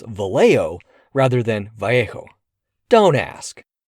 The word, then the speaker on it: Vallejo: It was named for Mariano Guadalupe Vjo, a California who served in the California territorial legislature and was a proponent of statehood.